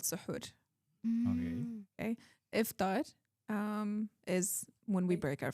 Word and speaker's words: iftar: Oh, iftar. Okay, I pronounced that.